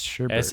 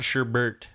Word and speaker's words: sherbet: Sherbet, not sherbert.